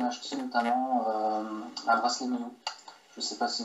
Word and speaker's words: Myo: Et donc, les prochains prototypes seront plus évolués puisqu'on a acheté notamment un bracelet Mio.